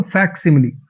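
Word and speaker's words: facsimile: इसकी जो प्रोनंसिएशन है वो है फैक्सिममली।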